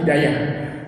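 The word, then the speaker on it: هداية: hidayatan hidyatan dan hidayatan jadi hiday itu diwakafkan hidayatan jadi hidayah itu diwakafkan dibacanya jadi Hidayah dalam bahasa Indonesia juga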